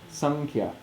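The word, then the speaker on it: saṅkhyā: So this is pronounced sankhya. So it's written often with an N.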